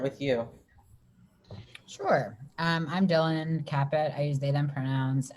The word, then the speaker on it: Kapit: We have Lewis Mitchell and Dylan Kapit. I've never said your last name, Dylan, so let me know if I mispronounced it. Kapit.